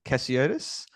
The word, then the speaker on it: Cassiotis: make sure I grabb that correct yep aan cotus so aan is like Nathan without the end aan um and cotus is just yeah normally how it's how it